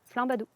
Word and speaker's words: flambadou: qu'à manger canard avec flambadou. Flan badou. Ouais. Comment ça s'écrit ? Flanadou. Là, tu parles à une dyslexique. Donc F L A M B Oui. A D O U Flambadou.